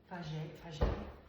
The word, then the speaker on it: Fage: Fage.